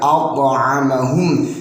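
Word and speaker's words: أَطْعَمَهُمْ: Kemudian at'amahum, di sini wajib ada pantulannya karena ini hukum bacanya ialah qalqalah sughra.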